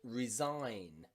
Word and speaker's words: resign: The G in there is silent because it comes before the letter N. So G and N, the G is nearly always silent, okay? Design, resign, and foreign.